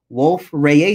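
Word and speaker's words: Wolf-Rayet: are what we call wolf ray stars so that's the way reasons pronounce radiates because it's french and these stars are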